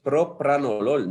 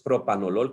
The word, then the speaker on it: propranolol: una r y aquí la otra es propranolol no es propranolol como muchos dicen es propranolol este propranolol obviamente era